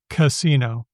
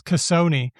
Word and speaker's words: casino: You'll notice that the first syllable is always a schwa, casino. And then the other two, I mean, they don't merge. Nobody says casoni. But that's because those vowels are pretty different from each other.